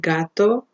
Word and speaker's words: gato: So we have GA, GO, or GU, that would be go, like in the word gato, in the word gota, gato is cat, gota is drop, or in the word gusano, worm.